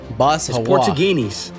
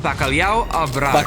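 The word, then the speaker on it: Bacalhau à Brás: Basuginis.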